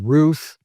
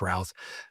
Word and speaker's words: Routh: Well, Mr. Routh, Rouse, however you pronounce it, guess what? I think it's Rouse.